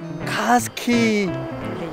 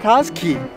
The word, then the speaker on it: Katskhi: It is called Katskhi. Yeah? Katskhi.